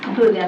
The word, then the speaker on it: Kuga: will be um please forgive me if I pronounce the correctly kuga oh yes kuga that's correct um I just have